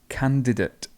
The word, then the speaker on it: candidate: we have cancel cancel candidate this is a difficult one because people say candidate candidate normally um the schwa would appear here so it's just candidate